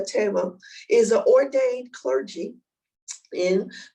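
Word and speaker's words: Thema: n t dr tama that's how it's pronounced tema tema tema is a ordained clergy in the african methodist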